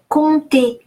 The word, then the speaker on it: compter: Compter. ON is nasal O, on, and final ER, it's a rule of pronunciation in French, is pronounced E, just like in the English word egg.